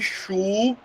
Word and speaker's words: chulé: Então, imagina que eu digo, poxa, que chulé, beleza? Então, chulé é uma palavra que é oxítona.